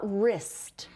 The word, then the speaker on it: wrist: And we're going to focus today on the W-R says rr, and that W is the ghost. That means we it's silent. It doesn't make any sound.